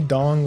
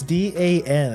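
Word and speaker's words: Dan: He's only Dong 1. I said Dawn. It's pronounced. It's D-A-N. It's not Dong.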